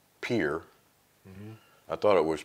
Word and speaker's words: Pierre: when you hear the locals, it's Pierre, like Pier Park. Okay. But it's P-I-E, R-R-E. Yeah, so we would school, all say we learned it Pierre, but they say Pier. Pier, okay. All the locals say Pier.